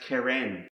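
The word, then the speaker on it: קרן: And the last word I want to share you with, it starts with the letter Qoph, is pronounced keren.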